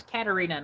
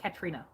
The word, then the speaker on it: Katarina: it by the way my name is katarina not katrina everybody gets that wrong